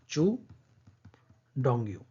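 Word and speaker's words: Qu Dongyu: सही ऑप्शन है option number B, इनका नाम है चू डोंगयू। ये क्यू लिखा है लेकिन इसका प्रोनाउंसिएशन ये होगा चू डोंगयू।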